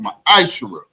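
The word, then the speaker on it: מעשר: Numbers 18:21, Malachi 3:8-10 means 10th in the Hebrew and is pronounced ma'ashera.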